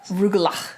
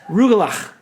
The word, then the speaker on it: Rugelach: Sent us a video explaining the pronunciation. Yes. Rugelach. Rugelach.